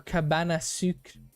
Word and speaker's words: cabane à sucre: Over here, we call them our cabane à sucre. That's just how you say it in French.